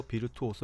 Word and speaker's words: Virtuoso: 에도 설명해 드렸다 시피 이탈 여러 비르투오소 라고 발음 되며 거장 명의 얻는 자